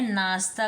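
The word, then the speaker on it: know: के एन ओ डब् इसकी pronounce होगी नो यहां पर आपको याद रखना है कि इसकी स्पेलिंग के एन ओ डब् है यहां पर के साइलेंट है इसके बाद भी इसे एन ओ डब्लू नाउ नहीं पढ़ेंगे इसे हम नो पढ़ेंगे यह आपको याद करना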